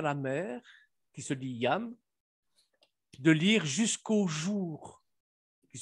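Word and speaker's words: ים: Et les rabbins, enfin, du moins les juifs askénazes prononcent, au lieu de Yam, le prononcent Yom, le A un peu haut comme ça. Porque esa palabra Yam, que es agua, mar, también puede que varíe un poco como lo pronuncien y suene como Yom.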